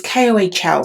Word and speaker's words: kohl: she would draw with I never know how you pronounce it but it's called coal or coal it's Kohl so it's kind of the